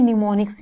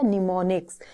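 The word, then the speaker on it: mnemonics: बात क्या है, इसमें निमोनिक्स यूज होते थे। निमोनिक्स इस तरीके से, आई थिंक डेफिनेट वो स्पेलिंग होती है बच्चों, निमोनिक्स, M से स्टार्ट होता है बट ये M इसमें साइलेंट है।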